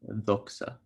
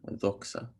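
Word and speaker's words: ⲇⲟⲝⲁ: But this letter makes like an X sound. It's X. So here it's doxa, which is glory, doxa.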